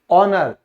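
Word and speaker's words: honour: तो यदि H से पहले वावल लेटर्स बाद में हो तो H साइलेंट होता है, यानी H के बाद अगर वावल लेटर्स दिए गए हैं तो हमेशा H साइलेंट होगा। जैसे सम्मान, ऑनर, तो आप देख सकते हो वावल लेटर है।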